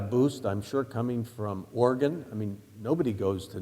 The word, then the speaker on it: Oregon: I mean, they don't even know how to pronounce Oregon. I mean, it's usually pronounced Oregon.